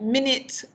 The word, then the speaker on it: minute: a minute so there we have a stress on min okay but the second syllable it that's an a sound with a weak form okay and generally the weak forms of the schwa okay so that's just